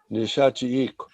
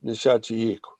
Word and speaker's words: Nishachiik: But if you pronounce that, it's Nishachiik with a KW at the end.